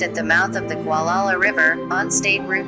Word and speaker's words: Gualala: Gualala, pronounced Gualala, is an unincorporated community in Mendocino County in the U.S.